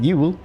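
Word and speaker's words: Jul: Fun fact, we still call it Yule. We just pronounce J and Y the same in our language. So, we spell it with a J. Yule. Yule.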